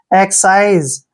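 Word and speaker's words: excise: और यहां पर देखिए सी आई को हम साई पढ़ेंगे साई और एसई का उच्चारण ज करेंगे जब भी एस से पहले आई आता है तो एस का उच्चारण ज करते हैं एक्ससाइज एक्ससाइज मीस होता है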